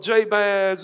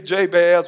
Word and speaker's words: Jabez: The pronunciation of Jabez in the Hebrew, when you pronounce his name, it sounds like pain in the English language.